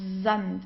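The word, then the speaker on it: Sand: then comes a vowel we pronounce the S like in uh the English zet so it's deant Zant okay so it's not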